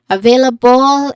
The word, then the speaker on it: available: Clearly I available it has stress on the second syllable.